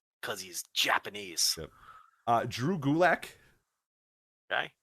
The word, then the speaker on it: Gulak: Drew Gulak. Okay. Rhymes with attack.